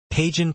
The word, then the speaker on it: Pagan: Pagan, pronounced like the godless religion, as Aninsley inquires, is a somewhat off-putting sports medicine student characterized by short ginger hair and a more masculine build.